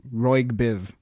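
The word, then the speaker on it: ROYGBIV: too too funny absolutely I I pronounce it Roy Biv but that that's actually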